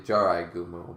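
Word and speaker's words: Jorōgumo: imprison themselves within cyberspace georgumo which is spider isn't it mythical yeah jorah well it's actually usually jarai gumu but i i think it's spelt correctly there's a mythical spider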